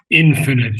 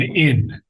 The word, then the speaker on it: infinite: Only uh thing I would suggest is the word infinite should be pronounced with the accent on infinite not infinite.